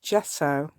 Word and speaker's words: gesso: some Gess Jess o I always call it Gess it's gesso so I do know it's yeah lot everybody pronounced it gesso but me but it's actually